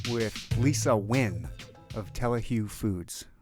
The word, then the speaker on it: Lisa Nguyen: Season 2 with Lisa Nguyen of Telehue Foods, right? Yes. Yes. You pronounced it correctly.